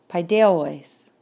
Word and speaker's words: παιδεύοις: Paideuois. Stem, ending, recessive accent. And see how the accent is on the penult, because the omicron iota,